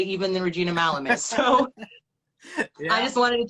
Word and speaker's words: Malum: that can be like my name and it's malam and i was like okay i love that